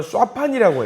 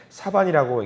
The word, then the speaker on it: 사반: 원래 발음으로 쏴판이라고 해요. 수판. 이거를 그냥 편하게 사반이라고 읽는데 강아지 뭐 아니면 너구리 반쯤 섞인 동물이라고 해요.